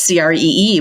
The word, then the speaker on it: CRE2: we were going to launch as Cree which we were pronouncing cree and it was very